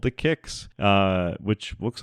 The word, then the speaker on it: Qix: They're going to start off with the game called Kix, spelled Qix, and I only knew it was called Kix because EGM told me that's how you pronounce it.